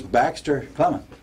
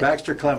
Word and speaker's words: Baxter Clement: And his name is Baxter Clement. Right? Did I say it right? I think you got it right. Baxter Clement.